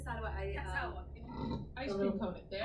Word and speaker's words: Salwa: It's pronounced Salwa. Tend to kick it out on the second half. My name is Salwa.